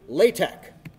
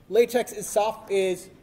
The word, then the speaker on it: LaTeX: I would like to introduce you to LaTeX, which is spelled like latex, but but you can tell a lot you can tell if somebody's a programmer.